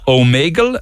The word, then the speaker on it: Omegle: We are talking about a thing called Omegle. Am I pronouncing that right?